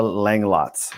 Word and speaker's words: Langlotz: talks today we have Angela Lang lots as I say that right yes you did thank you I'm proud